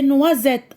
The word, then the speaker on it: noisettes: Je vois la lettre S, j'entends Z. Des noisettes.